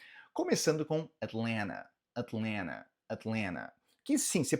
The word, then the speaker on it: Atlanta: Começando com Atlanta, Atlanta, Atlanta. Que sim, você pode pronunciar esse primeiro T de uma forma mais sutil e o segundo T você basicamente anula ele, você deixa ele mudo.